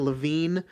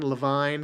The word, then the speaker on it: Levine: Oh, and a note for this episode coming in, I keep pronouncing it Ken Levine, one of the screenwriters of the film. His name is pronounced Ken Levine. Ken Levine is more the BioShock writer.